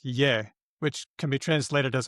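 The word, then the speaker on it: 也: For the he version of ta, the leftmost radical is the male, and the other one is it's pronounced ye.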